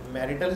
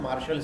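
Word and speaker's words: marital: यही होता है ना, मैरिटल स्टेटस नहीं लिखते उसको, मैरिटल है, लेकिन इसकी सही प्रोनाउंसिएशन है मार्शल स्टेटस, सही है, मार्शल स्टेटस बोलता है।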